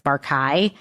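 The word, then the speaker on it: Barkay: I've heard it mostly pronounced as Barkai, but Dr. John Monson, who claims in the lecture that I listened to have an avuncular relationship. He said that Bar-Kai was like an uncle to him. He pronounced it Bar-Kai, and since he's an expert.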